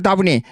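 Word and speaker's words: Dabney: 로버트 댐니. 다브니. 한국식 발음으로 다브니.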